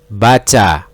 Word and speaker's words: baca: Now ba, cha. We read that baca.